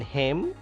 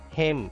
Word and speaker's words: hymn: In hymn, N is silent. Hymn. It is not hymn. Hymn.